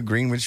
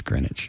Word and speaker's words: Greenwich: was involved in the Green Witch Village fender bender with a taxi. It's Greenwich. Greenwich. Greenwich.